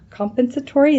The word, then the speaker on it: compensatory: Non-exempt employees entitled to overtime compensation will either acrew compens compens compensatory, is that how you pronounce it?